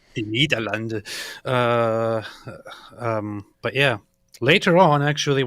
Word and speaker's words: Nederland: Nederlanden, say it right. Nederlanden.